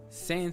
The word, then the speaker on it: sans: And some text to be sans serif. That's a word in French. It's pronounced sans.